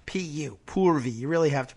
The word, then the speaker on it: Purvi: Her name's Purvi. P-U, Purvi. You really have to pronounce that right.